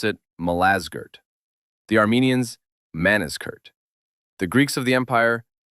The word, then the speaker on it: Malazgirt: The Turks pronounce it Malazgirt.